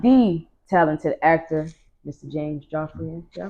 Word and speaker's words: Joffrion: James Joffrion. Did I pronounce that right? You, girl, Hey, yes. I'm on it. I got it. Yeah. Joffrion, you got it.